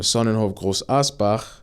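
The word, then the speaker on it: Sonnenhof Großaspach: So the sporting director from Sonnenhof Groß Asbach, that's how you say it.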